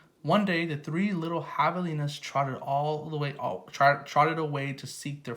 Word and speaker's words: javelinas: Javelinas, pronounced Javelinas, are wild, hairy, southwestern cousins of pigs.